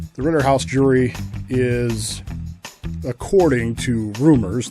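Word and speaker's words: Rittenhouse: We learned late yesterday that the Ritterhauser jury, yes, I'm intentionally mispronouncing it. The Ritterhouse jury is, according to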